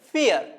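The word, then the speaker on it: vier: പറയുന്ന ആൽഫബെറ്റിലാണ് സ്റ്റാർട്ട് ചെയ്യുന്നത് വി വരുമ്പോൾ നമ്മൾ ഉച്ചാരണ വ്യത്യാസം പഠിച്ചിട്ടുണ്ട് എഫ് ആയിട്ട് ഉച്ചരിക്കണം എന്നുള്ളത് സോ ഇത് വായിക്കുന്നത് ഫിയർ ഫിയർ ഫോർ എന്നതിന് ഫിയർ എന്നാണ് ജർമനിൽ പറയുക ഫിയർ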